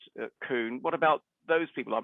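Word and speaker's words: Coon: what about other people whose names may be not spelt c double o n but are um are pronounced kuhn what about those people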